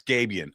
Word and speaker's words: Gabiann: Yeah, it's Gabian. I know all week I've been saying it wrong.